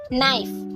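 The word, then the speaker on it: knife: নাইফ, এই ওয়ার্ডটিতে কে লেটারটা silent থাকে।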